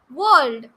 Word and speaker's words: world: Here, the word world. Some people pronounce it as world. World. It is not world. Here, R is silent and it is world.